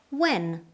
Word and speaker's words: when: When? We don't pronounce the letter H in this case.